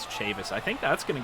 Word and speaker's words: Chavis: incorrectly is michael chavis i was pronouncing it chavez before just kind of assuming that it might have been a hispanic type of a name but in fact it is chavis i think that's going